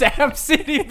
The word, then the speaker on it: Abcde: can phonetically sound out the name. Absidy. If you spell ABCITY. It's Absidy, baby.